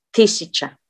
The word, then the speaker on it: тысяча: Oinya, karena tekanannya di A, tisica. Tisca. Sebenarnya kalau mau jujur-jujuran, Miss juga kadang lupa-lupa ingat stresnya di mana. Cuman karena sering ngomong sama orang, jadi keinget gimana cara penyebutannya, penekanannya di mana. Kayak tisca, tisca, kan ti, si, ca. Berarti ianya nggak di pronounce ya, tapi i. Berarti penekanannya di a di terakhir. Tisca.